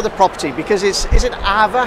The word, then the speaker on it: aava: Okay, so Ava, first of all, Ava is a Finnish word.